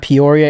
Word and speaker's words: Peoria: We're at the Red Hawk Academy in, Pierre? How do you say it? Peoria, West Arizona.